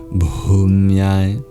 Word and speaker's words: Bhumyai: Also the H in Bhu and Bhumyai. It is no mere silent letter, but adds an aspirated quality to the B sound.